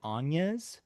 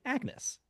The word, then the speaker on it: Agnes: Um, so her her name which is spelled like the name Agnes but is not pronounced like Agnes in the film. It is pronounced like Ana in the film.